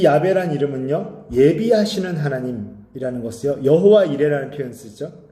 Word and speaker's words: 야훼: 이 야베란 이름은요, 예비하시는 하나님이라는 것이요, 여호와 이레라는 표현 쓰죠. 또 야훼 이레라고도 합니다. 우리는 여호와 이레라는 것으로 더 잘 알고 있죠. 사실 여호와라는 것은 우리나라에 들어와서 잘못된 발음인 것 같아요.